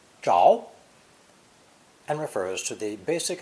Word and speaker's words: 着: Now we have a group of 5 slides on a green background, where the character is pronounced 2nd tone, zháo, and refers to the basic idea of wood catching fire.